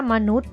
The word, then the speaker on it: มนุษย์: หอ หีบ นะ คะ หรือ คำ ว่า มนุษย์ นะ คะ ไม้ ทัณฑฆาต นะ คะ อยู่ ที่ ตัว ใหญ่ ยักษ์ นะ คะ ก็ ไม่ ต้อง ออก เสียง พยัญชนะ น่า รัก ตัว